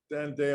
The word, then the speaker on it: Anodea: Is that correct, Anodea?